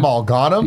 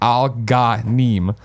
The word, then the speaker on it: Al-Ghanim: And I screwed up because a long time ago we asked him to pronounce it. And I'm looking at the DM where he's like Al-Ghanim.